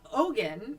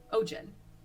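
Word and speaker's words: Ogion: Anyway, so Ogin. Wait, what do you call him? Ogin? Ojin.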